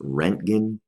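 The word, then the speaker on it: Röntgen: with by a guy his last name is pronounced roentgen I forget the year but what he was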